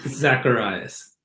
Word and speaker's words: Zacharias: It's Zacharias. That's the only part you got wrong. Zacharias. Okay. And I said Zacharias, didn't I?